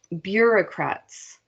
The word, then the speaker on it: bureaucrats: I'm going to say it like 5 times because it's a French word, so it doesn't look like the way it's spelled. Bureaucrats, from the French word for desk.